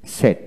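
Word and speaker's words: said: late lead এভাবে হবে ব্যতিক্রম এই তিনটি শব্দ শিখবেন সে থেকে কি সেট সেট হবে এস এ আই ডি উচ্চারণটা সেট সেইড নয় সেট আইপিএস সিম্বল স্পেলিংটা হলো এস ই ডি সেট সেট আবার লেটেড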